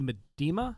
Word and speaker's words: Miedema: It's Andy Miedema?